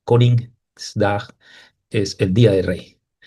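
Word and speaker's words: Koningsdag: El día del rey, como les dije, se pronuncia Con's dag. Dag es para día y con como king en inglés. Coringdag es el día de rey.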